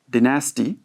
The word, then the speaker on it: dynasty: And then we have also another word that is dynasty. D-I-N-A-S-T-Y. Dynasty in British, okay? And in American, it is dynasty. What is it? How do you say? Dynasty in American and in British dynasty.